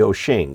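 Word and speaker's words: Wouxun: very first chinese radio i got was the oh shing spelled wuxong but pronounced doshing which is a nice little radio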